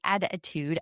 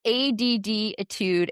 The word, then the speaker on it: ADDitude: There was an interesting article I just read this past weekend in the attitude. I don't ever know how to pronounce that. It's additude.